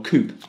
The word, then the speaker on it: Coup: A bit like Coup, which I reviewed, or Coop, as it's pronounced correctly, as I reviewed in another opener not that long ago.